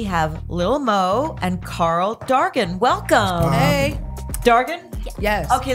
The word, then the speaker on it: Dargan: Dragon, like, Dargan. Oh, amazing. Darius. Because, yeah, because I am known for mispronouncing names. Some people just say. It's Irish. Somebody said garden.